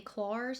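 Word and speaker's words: Klairs: I am currently trying the claws is how that's pronounced Supple preparation unscented toner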